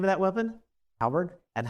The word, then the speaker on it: halberd: Halberd.